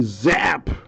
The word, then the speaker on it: Zappe: do we have here bailey zapp the e is silent tools of the trade triple relic auto to 199.